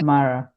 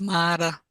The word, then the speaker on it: Mara: really Ma pronounce it, because it's not Mara. I'm saying it in English. Yes, say it in actually. Yes, so in Acholi it's pronounced Mara.